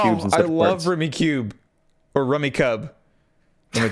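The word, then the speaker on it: Rummikub: It's Rummy played with cubes. It's Rummy Cube.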